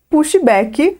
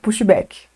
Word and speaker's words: pushback: Mas como que se pronuncia de forma correta essa palavra, pushback? Vamos começar pelo U. O U aqui, ele vai ganhar um som no meio do caminho, entre a letra U, entre o som do U e o O fechado.